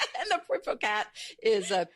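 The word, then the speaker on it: Puiforcat: Uh there's Kristoff Kristoff and Poat the Kristoff it people in America sometimes call it Christophel because it's because of the way it's spelled and and that sounds awful. And the poat is a p ui fo r a t.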